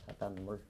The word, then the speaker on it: 바닷물: 자, 그래서 20번 마지막 문제는 바다 플러스 물인데 미음이니까 요게 이제 니은으로 발음이 된다는 뜻이야. 바닷물.